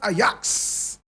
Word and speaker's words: Ajax: Ajax bukhana ayax bukhana Ajax pronounced ayaks bukana is b-u-k-a-n-a today I have the